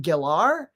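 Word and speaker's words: Gellar: calling them and it's weird because San Rachelle Geller everywhere calls her that but she said on a talk show it's actually pronounced gilar but no one no one says that still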